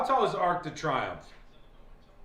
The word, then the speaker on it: Arc de Triomphe: I'm not pronouncing it right? What, Arc de Triomphe? Well, he corrected me. He said, the Arc de Triomphe.